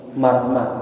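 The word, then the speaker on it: مرمة: wa marmatin di ma'asin bi fathil mim, marmah bacanya.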